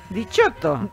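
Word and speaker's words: diciotto: Dichotto. No, ¿en serio? Dichotto se dice. ¿Sí? Dichotto. Dichotto. Dichotto, porque si no tenés el 10. Dichotto, yo dichotto. Digo dichotto.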